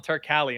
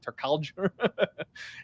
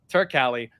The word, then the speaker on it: Turkalj: Tyson Pedro takes on Anton Turkalj, and by the way, that's how you pronounce it. Last time I broke it down, I was saying like Turkalj. Anton Turkalj, the Pleasure Man himself.